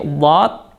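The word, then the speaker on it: ض: Nah, di sini ada huruf dhad. Huruf dhad ini makhrajnya adalah pinggir lidah, kemudian dia bertemu dengan geraham atas.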